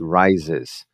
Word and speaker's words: rises: O que tava mudo na palavra original rise, agora ele aparece rises e ele vem puxando o som de Z ali, ó.